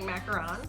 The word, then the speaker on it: macaron: And let's go through, we are not just being fancy by saying macaron. Yeah, no, that's right. That's the accurate one. We're not trying to be bougie or anything like that. That's how you say it.